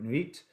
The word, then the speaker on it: Nuit: And this Nuit card, or Nuit, because I always want to pronounce her name as in the French for night, Nuit, but that might not be how it's pronounced.